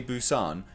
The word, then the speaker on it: Busan: Like I say, that opening interaction on the fake American talk show, when they even say, oh, is that how you say Busan?